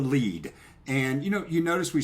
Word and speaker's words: lede: It's called the lead.